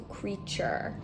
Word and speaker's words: creature: u r e as an ending chur so creature so you don't hear the a really at